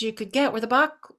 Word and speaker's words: Bach: Used to be the only flower essence you could get were the Bach essences or Batch. If you were in Europe you would pronounce his name Batch.